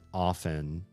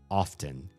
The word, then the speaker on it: often: You should say the T in that word often.